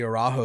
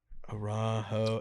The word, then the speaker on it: Araujo: The Isley, the Arajo Syrah is my favorite wine I've ever had in my entire life.